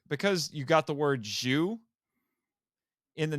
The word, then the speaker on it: Zyu: you got the word Jew in the name it's which is pronounced like the Japanese word for the number ten there was a rumor